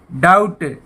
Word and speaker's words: doubt: और एक DOUBT, डाउट। डाउट होता है शक। तो यहाँ पे भी बी साइलेंट है।